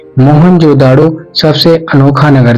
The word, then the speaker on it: मोहनजोदड़ो: मोहनजोदड़ो शब्द का सही उच्चारण है मोहनजोदड़ो और सिंध भाषा में